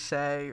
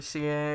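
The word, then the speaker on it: Sieh: and uh our main character is say or CA or s-i-e-h I'm gonna pronounce the same shag and and he's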